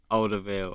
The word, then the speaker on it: Alderweireld: Yeah, but just about to say like he's like he's keeping Alderweireld out.